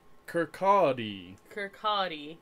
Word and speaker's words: Kirkcaldy: Kirkcaldy. Which you would not guess from the spelling of it.